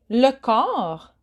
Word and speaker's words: le corps: Next category is the body, le corps. So be careful, you don't pronounce the P nor the S.